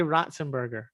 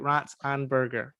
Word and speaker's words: Ratzenberger: you're saying it wrong it's just say ratzenberger yeah that's anne burger really in that like pronouncing the anne for some reason john ratzenberger i've it's hard i've been pronouncing it like for years i i've been pronouncing it wrong for like that long you're not pronouncing it wrong you're just putting weird enunciation in certain parts you're making it sound like rats and burger it's right like i'm